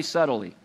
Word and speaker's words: subtly: where the enemy subtly everybody say subtly it's actually not spelled like it sounds by the way it's got to be in there subtly the enemy is